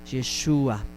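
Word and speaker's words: ישוע: y en esta conversación fue pronunciado en esta manera yeshua en el hebreo de acuerdo por eso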